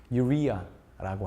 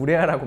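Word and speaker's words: urea: 우리나라 말로 요소라고 하는데 영어 발음으로는 사실 유리아라고 합니다. 그래서 쉽게 말해서 그냥 우레아라고 많이 얘기를 하는데요.이 자연 보습 인자 NMF의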